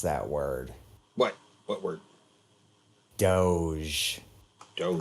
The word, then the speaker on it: Doge: I am of the opinion that it is either dog, and the E is silent, or doggy. Doge. I've always gone with dog, though, because it sounds like dog.